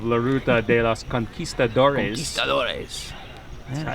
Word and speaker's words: Conquistadores: Conquistadores. Yeah. It is how you say it. It's not Conquistadores. It's Conquistadores. Conquistadores.